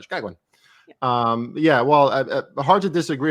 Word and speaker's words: Chicagoan: You say it really quickly with the accent. That sounds right. Chicagoan.